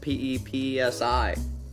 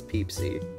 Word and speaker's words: Pepsi: episode is brought to you by peepsie spelled p-e-p-s-i but not it's not pepsi it's peepsy it's spelled the same but you got to pronounce